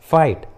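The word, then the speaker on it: fight: उसी तरह राइट, फाइट, हाइट, देखिए तीनों इंग्लिश वर्ड्स में जी और एच एक साथ है और जी और एच वॉवेल के बाद आए हैं, स्वर के बाद आए हैं, इसलिए रूल के अनुसार जी एच साइलेंट है।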